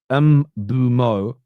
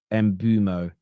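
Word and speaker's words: Mbeumo: The pronunciation police are here. That says say that it's Mbumo, not Mbumo.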